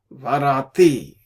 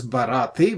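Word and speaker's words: בראתי: Ve'adam aleha varati. This is barati. Basically, in the flow of the sentence, they don't pronounce ba instead of say va, so that dagesh is gone.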